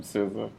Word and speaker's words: SZA: SZA?